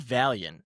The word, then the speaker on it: Valiant: Pod Valiant. Is that what you said? Pot Valiant like Valiant like uh it's spelled V A L I A N T.